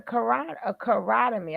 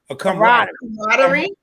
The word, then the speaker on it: camaraderie: And then you have to get a carotemy. I'm saying that word wrong. Somebody please fix the word. Camaraderie.